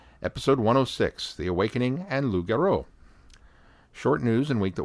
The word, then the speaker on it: loup-garou: the episode comments, but my listening of Loup-Garou, pronounced Loup-Garou, for those who just barely passed French 1, because I think back in the day we pronounced it Lupus-Garou, for my Big Finish reviews.